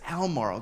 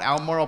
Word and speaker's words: Albemarle: you say this word it's elmoral but it's not phonetically like that jerry i'm like i didn't make the word up just call it elmorel please um bob shot